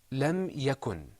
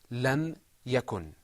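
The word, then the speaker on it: لم يكن: okay very good let's look at another example lam yakun in the Quran this is pronounced lam yakun repeat after me lam yakun then I'm ya goin lam yakun ok I'm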